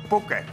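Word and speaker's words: Phuket: Hele, to se vyslovuje Puket.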